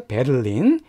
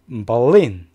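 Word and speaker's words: Berlin: 다음에 독일에서 가장 큰 도시 누렙 애정이나 줘 베르린 베를린 듣게 빼는 것이며 안돼요 독일식 발음 이고 영어로 완전 다릅니다 저울은 즉 버린 버린 니네 간 세로 대해서 뭐 인 이렇게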